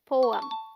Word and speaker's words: poem: Poem. The PO sounds like po, as in go, and is this stressed syllable. And EM sounds like So the right pronunciation is poem.